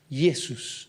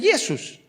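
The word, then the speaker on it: Ἰησοῦς: sus Jesús yesos Entonces se llama yesos porque nosotros le decimos Jesús Bueno ahí hay un cambio en el idioma en nuestro idioma cambió la J antes se pronunciaba como una Y entonces arrastró el nombre de Jesús donde le pasamos de yesos a Jesús ya está pero en griego los apóstoles le decían Jesus pero sin embargo en hebreo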